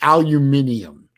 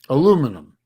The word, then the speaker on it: aluminium: And you're always saying aluminium. Which Yeah, is wrong. you guys drop a whole fucking syllable. Aluminum. Aluminium.